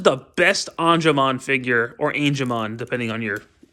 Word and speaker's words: Angemon: Digimon Adventure in a really long time but anamon is really cool on this model Kit's not very expensive it costs 30 bucks and this is the best anamon figure or angon depending on your pronunciation I prefer angon because